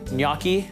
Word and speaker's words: gnocchi: We've got these beautiful little pillows, little dumplings, gnocchi, pronounced gnocchi, but whenever you see it on a restaurant menu, it tends to not get ordered that much because people go, I don't know how to pronounce it.